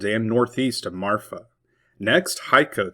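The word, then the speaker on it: Hico: Next, Haiko, Texas. It is not Hiko or Heeko.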